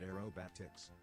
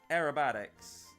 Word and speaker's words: aerobatics: Bula said you were pronouncing it arerobatics. Aerobatics. Oh, yeah. I see what you mean.